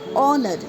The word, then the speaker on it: honored: H is often silent when it's come at the beginning of a word or is followed by R. So here hour, honored, the H is silent.